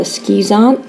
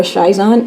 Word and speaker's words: schizont: They form a complex in here called a schizont or a schizont, however you prefer to pronounce it.